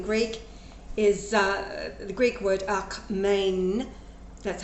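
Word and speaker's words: ἀκμήν: Now, just as the 188 that he has already gathered in Greek is the Greek word akmein, that's how it's pronounced, meaning just now, still, yet.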